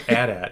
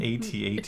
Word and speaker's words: AT-AT: it's not my fault I do not call it Adat it's an atat it is an AT-AT